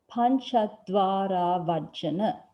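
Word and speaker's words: pañcadvārāvajjana: When put together, it's pronounced as pancha dvara vajjana.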